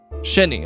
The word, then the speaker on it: Shini: uh by the way is your name pronounced shiny or shinny Shin shiny Shin shinny okay I got to I got to make sure I get that right it's it's the Japanese gotcha okay my my